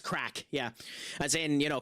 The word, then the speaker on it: craic: Craic is how it's pronounced. Like, it's spelled Craic, but it's pronounced the same way as it would be as it's just replaced the C with a K. It's pronounced crack.